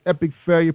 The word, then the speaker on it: Epic Failure: Now your bio say that North Star Media recording artist Epic Failure, pronounced Epic Failure, is an urban pop duo resulting from the collaborative efforts of singer-producer Billy Joe Marrero and rapper Nick Young.